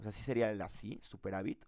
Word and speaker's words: superávit: O sea, ¿sí sería el así, superávit, o sería con B chica? No, solo lleva, no lleva. Con B chica, Solo pero lleva acento en la A.